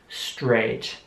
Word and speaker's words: straight: Straight.